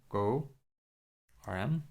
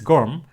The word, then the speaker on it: GORM: Go ORM. Right, I'm always like pronouncing as a kind of go ORM, but it's GORM, right? It's other way around.